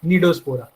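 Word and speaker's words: Cnidospora: ठीक है, सी साइलेंट है इसमें, तो it will be रेड एज निडोस्पोरा।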